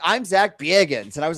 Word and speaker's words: Bagans: He actually pronounces his name Bagans. It's like Bagans, like a Midwestern mom.